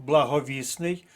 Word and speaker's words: благовісний: колонки але пам'ятаємо що прикметник благовісний по-перше зникає літера т - це спрощення приголосних а по-друге міняється наголос благовісний але благовіст далі рухаємося заєржавіти наголос